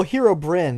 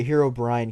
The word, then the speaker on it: Herobrine: It's not like Brian. Like you said Brian, but like, that's not what it is. Like brine, like a fish. Well, it's Hero. Well, Hero Bryn is like one of the pronunciations, and that's like the earlier one. But Hero Brian came out later. And that's wrong. First Hero Brain is appeared wrong.